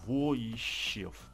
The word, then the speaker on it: Войщев: Да, он вроде говорил, что у него на букву О ударение, поэтому Войщев.